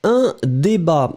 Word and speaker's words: débat: Un débat. So, remember that the way to write it will be D-E accent aigu, B-A-T. Final T is not pronounced, but still it should be here.